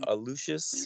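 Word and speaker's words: Aluxes: is uh lexus they're uh a lucious yeah that's right i said it right i i've always said it alexis because it's spelled a-l-u-x-e-s but it's something yeah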